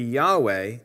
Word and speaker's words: Yahweh: to render the tetragrammaton the original pronunciation of yhvh or yhwh taken to be yahweh is a tentative reconstruction based on several lines of evidence a misunderstanding of how the vowels of adonai were added to the consonants yhvh